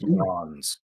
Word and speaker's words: Jans: pronounced Yawns. Jans? I like Jans.